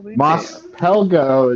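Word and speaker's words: Mos Pelgo: out today what's up moss pelgo is salt you know p-e-l-g-o there's no silent s at the end of it and i was looking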